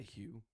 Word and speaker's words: Hugh: Can you not? Hugh You Jack. can you? Hugh. Is that Can you better? not pronounce the H in it?